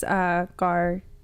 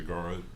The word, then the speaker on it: Gaara: And it's Gar talking about Gaara. There, see, that's what I'm saying. I knew I was going to say it wrong. Gaara talking about how, it's